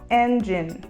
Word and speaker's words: engine: gente fala Engine Engine a sílaba tônica dessa palavra fica na primeira sílaba Engine como essa palavra termina com a letra e nós não pronunciamos então a gente termina com o som do n Engine e um exemplo